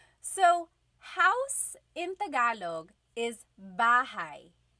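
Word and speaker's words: bahay: Okay, so house in Tagalog is bahigh. Bahai.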